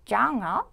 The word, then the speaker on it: genre: What is your favorite genre of movies? 여기서 장르라는 이제 단어가 나오죠. 이것은 약간 이제 불어식 발음이 납니다. 그래서 genre 이렇게 R 같은 발음이 나거든요. 그래서 R 발음이 많이 나는 그런 발음이고, 그리고 Why do you like those movies?